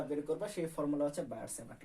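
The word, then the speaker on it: Biot–Savart: সেই ফর্মুলার নাম হচ্ছে বায়ট-স্যাভার্ট ল। অথবা তুমি বইয়ে তোমরা দেখবে বাংলা লেখা আছে বিও-স্যাভার সূত্র। ইংলিশে হচ্ছে বায়ট-স্যাভার্ট ল। এটা শুধু উচ্চারণের পার্থক্য, বাংলায় তুমি লেখা আছে বিও-স্যাভার্ট ল।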